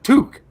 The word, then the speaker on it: toque: It was like, no, toque. One syllable.